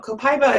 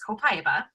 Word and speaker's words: copaiba: that on a slide there's a multitude of different ways that I hear this oil pronounced and I think that what we typically tend to say now is copaiba I know that in